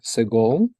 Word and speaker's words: segol: it is called a segol, or it can be a segol yod, or a segol malay, right? And it's pronounced as in bed, segol.